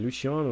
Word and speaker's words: Luciano: garcia playing luciano i didn't know that i'm pronouncing it wrong i only say luciano for some reason luciano is has pronounced as people have told me